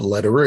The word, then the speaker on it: Lederer: my name is lederer it's spelled l-e-d like david e-r-e-r it's like roger federer the the tennis player only with an l instead of an f you can get it